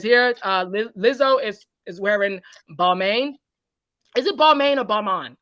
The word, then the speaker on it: Balmain: And it says here, Lizzo is wearing Balmain. Is it Balmain or Balmain? I always get it confused. Balmain. I always go Beaumont. Balmain. Okay, I gotta say it like I'm French.